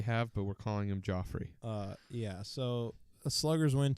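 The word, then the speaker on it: Geoffrey: Yeah, but I mean Joffrey. Joffrey. So this guy gets signed last minute. His name's Jeffrey, but it's spelled G-E-O-F. No, it's not. It's not said Jeffrey. It's Joffrey. That's his name.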